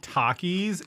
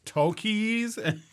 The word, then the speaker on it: Takis: any sort of authority actually phil is wrong it's not takis it's tokies i don't know i